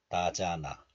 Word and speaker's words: 나잖아: This one is pronounced as 잔 in isolation, and this letter is followed by a vowel of the next letter, and hiut is dropped, and then the remaining niun moves to the next letter. So a becomes na. So this is pronounced like 자나, 나잖아, 밝게 빛이 나잖아.